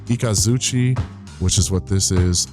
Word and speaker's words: Ikazuchi: Ikazuchi, which is what this is, the lightning.